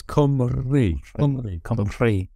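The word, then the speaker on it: Cymru: there's the it's cool like cym says and then the r u is you gotta roll the R so it's come early oh yeah butchered that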